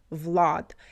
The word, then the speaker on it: Vlad: A is more closed. A like Arctic Vlad. And in English usually we say Vlad. Vlad. I I mean I I'm doing the best I can with my accent, but it's um a is in between a and um is in between a and e. So it's like long and more open.